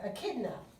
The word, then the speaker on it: echidna: the other one is the um let me pronounce it correctly uh echidna i had to remember echidna now on the